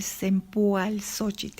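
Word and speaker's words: cempoalxóchitl: tradición mesoamericana bien ahora la flor de sempo al socheat esa es la manera correcta en la que se debe pronunciar pero bueno ya a lo largo de los diferentes siglos la pobre palabra se ha ido deformando hasta cempasúchil porque es tiempo also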